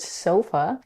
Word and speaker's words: sofa: For example, in the word sofa, the first syllable, so, has the primary stress, while the second syllable, f, is unstressed. Sofa, sofa.